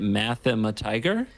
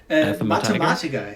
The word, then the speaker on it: Mathematiker: Mathematiger? Mathematiker. It's actually German for mathematician.